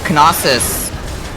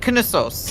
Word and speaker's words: Knossos: Like, the emphasis is on a different syllable than you would think it would be. It's not Knossos, it's Knossos. Like, the sos part is the emphasis.